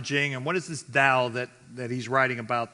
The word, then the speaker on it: Tao: dow is so again the tao or pronounced dao literally means the path